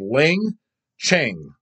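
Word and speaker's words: Leng Tch'e: thing I couldn't pronounce, is pronounced as Lang Cheng.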